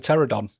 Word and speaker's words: Pterodon: and transforms into a pterodon. And you must always knock before going into the toilet when he's about because he has a silent P. Silent P. Pterodon, spelled with a P.